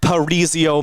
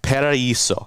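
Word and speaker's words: Paraíso: the wonderful parisio map I said that one wrong I know I did because I remember the Google translate Pera ISO there we go you gotta like get the nice Accent on the A and the I Paraiso there we go I I got it right there all right but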